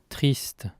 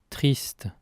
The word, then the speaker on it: triste: triste, triste, Also notice that the French word ends in a consonant sound t, despite the written word ending in an e, while the Spanish word ends in a vowel sound e.